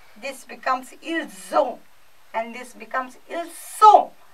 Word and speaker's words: ils ont: This becomes ils ont and this becomes ils sont. So, S remains S, and this O combined with S becomes Z.